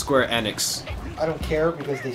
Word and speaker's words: Square Enix: playing that square enix squirt annex it's pronounced square enix i don't care because